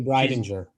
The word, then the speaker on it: Breidinger: Tony Breidinger.